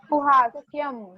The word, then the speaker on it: सुहास्यं: जहां पर भी अनुस्वार दिख रहा है उसको म प्रोनाउंस करना है। श्रोतुम, सुहास्यम, घ्रातुम।